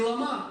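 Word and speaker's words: བླ་མ: Существительное, двусложное, тибетский язык. Ударение на второй слог.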